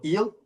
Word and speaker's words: Gil: You got Cole, Rodon, Schmidt, Gill, or Heel. How do you pronounce Heel? Heel.